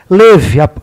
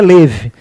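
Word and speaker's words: לב: Leve, coração em hebraico é leve. Se escreve com a letra lamed, que é o L, e a letra bet, que é o nosso B. Se escreve lebe, mas se lê leve.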